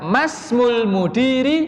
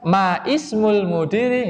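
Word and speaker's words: ما اسم المدير: Ketika di tengah masmul mudiri, nah gitu. Masmul mudiri gitu cara bacanya. Jadi bukan ma ismul mudiri gitu, tapi langsung masmul mudiri. Karena hamzah wasal dia tidak bisa dilafatkan tidak punya harokat.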